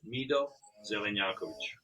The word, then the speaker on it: Mido Zelenjakovic: So can you pronounce that for My me? name is Mido Zelenjakovic.